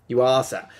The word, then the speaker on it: Yuasa: Yuasa.